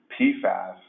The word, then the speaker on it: PFAS: You know, we're using and the nomenclature has evolved over the years, but we use the term PFAS and pronounce it that way to refer to the whole family of substances.